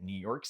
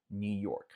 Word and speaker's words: New York: Nota que esse New York, que você pode falar mais marcado New York, ele vai ter umas variações regionais, principalmente dependendo do sotaque, né? Quem é um nova-iorquino pode dar uma variação, principalmente nesse York, em vez de falar esse R tão marcado, eles costumam falar York, York, New York, New York. Pode ser que você escute isso. Isso é uma questão mais de sotaque. De forma geral, só falar um New York, New York.